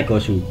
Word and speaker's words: Gozu: Gozu ya, Gosu. Dibacanya Gosu.